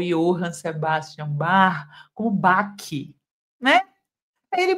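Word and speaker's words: Bach: Ou seja, falar em harmonia, falar em BAC, sendo que a pronúncia dele é bar, falar em debuci sendo que a pronúncia é debsi, além de ostentar um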